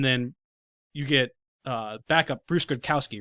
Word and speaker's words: Gradkowski: He gets hit hard, knocked out of the game, and then you get backup Bruce Gradkowski, right?